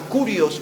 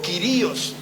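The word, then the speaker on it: κύριος: En el idioma hebreo se usaba una palabra que era la palabra kurios o quirios. Algunos lo pronuncian de las dos maneras.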